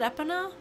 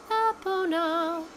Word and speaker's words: Epona: Epona's song, and it's Epona, Epona. So it, I don't know. That's how I've always said it. Where the three syllables are kind of equally weighted.